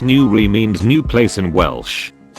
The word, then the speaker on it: Newry: Newry Station, pronounced Newry, means new place in Welsh.